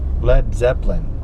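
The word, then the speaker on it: Led Zeppelin: a big mystery but lead Zeppelin it's actually lead as in a heavy metal but they spelled it led so people would say it right instead of saying lead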